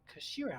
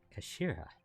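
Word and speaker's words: 頭: end of the hilt it is written as head in japanese but it's pronounced kashira i believe kashira does mr sogi's words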